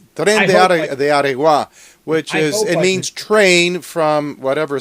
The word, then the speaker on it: Tren de Aragua: It's called Train de Aragua. Maybe you can pronounce it better than I can. Yeah, I hope. Tren de Aragua, which means train from